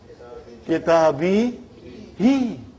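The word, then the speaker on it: كتابه: So fi made the kitab majrūr, kitabi, and hu is still a damir. It is Muḍāf Ilayhi. But for the sake of pronouncing nicely, we change into kitabihi. No change because of grammar. It is just phonetics, brother.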